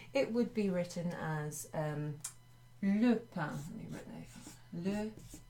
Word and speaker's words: le pain: If we were just saying bread on its own, it would be written as le pain. Let me write that. Le pain. Not lapin, which means rabbit, but le pain.